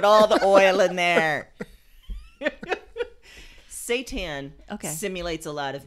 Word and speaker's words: seitan: a vegan tofu tempeh and seitan oh like satan like the lord of darkness that explains a